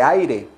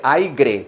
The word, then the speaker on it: aire: funciona con presión de aire no se dice aigre se dice aire Okay no me pronuncie